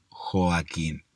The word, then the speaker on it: Joaquín: Porque claro, cuando uno pronuncia Joaquín, parece que pronunciará la O como una U. ¿Por qué? Porque los seres humanos modulamos muy mal. Hablamos muy mal. Pocos dicen Joaquín. La mayoría dice Joaquín. Entonces la O parece una